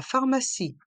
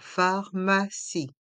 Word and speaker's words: pharmacie: pharmacie la trousse à pharmacie dans le mot trousse le O et le U se prononce ou la Crousse a pharmacie le P et le H se prononce fe comme la lettre F et le i à